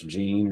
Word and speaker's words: Jean: your first name sir Jean Johnson it is Jean okay very all right it looks like a